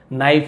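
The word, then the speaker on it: knife: एन आई एफ ई नाइफ यानी होता है चाकू वहां पर भी के को नहीं पढ़ते केवल एन से स्टार्ट करते हैं के एन एक साथ हो तो के को नहीं पढ़ेंगे नोन यानी जाने जाते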